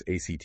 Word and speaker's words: ACT: We're going to explore Neuroflex ACT that's pronounced act like the verb, right?